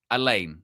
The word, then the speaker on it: Haaland: You look at that front five, Semenyo, Foden, Silva, Doku, Haaland. Elaine, is that how you say it?